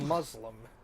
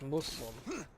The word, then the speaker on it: Muslim: how you refer to them like it's not Muslim it's Muslim oh it's with the s sounding like an